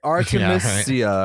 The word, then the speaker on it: Artemisia: say artemis but that's a dc character it's artemisia or something artemisia so you you mentioned you get an aquaman